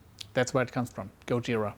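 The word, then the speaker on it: ゴジラ: Godzilla they called and Japanese is Godzilla is pronounced Gojira so that's where it comes from Gojira it's Japanese for Gilla all right that's also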